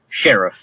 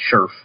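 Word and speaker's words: Scherff: So at the Combine, he told people he wanted his name to be pronounced Sheriff. And then recently, the team that drafted him, the Redskins, released a press statement saying it's now pronounced Scherf, which is how people have been mostly pronouncing it anyway.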